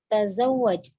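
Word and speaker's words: تزوج: Tazawwaj, jadi langsung saja sini bentuk fi'il amarnya bukan tazawwaj ya, jadi tidak dibaca panjang, taknya pendek semua, di sini tidak ada yang dipanjangkan.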